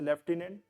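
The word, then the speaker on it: lieutenant: क्या कर रहे हैं जैसे लेफ्टिनेंट है वहां पर एफ कहीं नहीं आता लेकिन हम बोलते हैं उसे लेफ्टिनेंट कर्नल है उसमें कहीं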